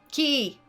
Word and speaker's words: Quay: Key! Key! It's pronounced key, dipshit. They spell it different.